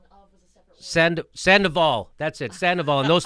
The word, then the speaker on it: Sandoval: Sandoval.